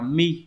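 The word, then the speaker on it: 身: Kanji điển hình chúng ta có chữ thân của N4 đọc là mi đúng không nhỉ?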